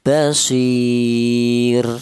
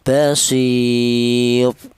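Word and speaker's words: بصير: Di mana ro mati ini dibaca tarkik atau dibaca tipis. Cara bacanya basir seperti itu. Jangan dibaca tebal atau tafim. Seperti contoh basir tidak boleh.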